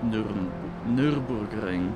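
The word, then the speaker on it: Nürburgring: first two laps of the Nuremberg ring actually it's pronounced Nurburgring but you can say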